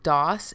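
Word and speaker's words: DAS: I believe it's pronounced DOS.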